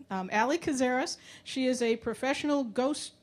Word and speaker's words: Allison Kazaras: I keep saying her name wrong. Allison Kazaras.